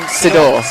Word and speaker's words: Sidor: Great save by Tammy, and I pronounce her name Sidor. Yeah. Great save by Tammy Sidor.